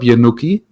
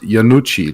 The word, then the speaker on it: Yanucci: said, "Hey, what's up, Yanuki?" And my name back then was pronounced Yanucci, like the Italian way.